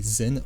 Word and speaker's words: Zen: l'esprit à savoir que Tchan se prononce son en coréen et zen en japonais on peut donc considérer